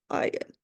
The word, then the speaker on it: iron: So most people can think it's iron because you're pronouncing the R, but again, it's what we call a silent R, iron.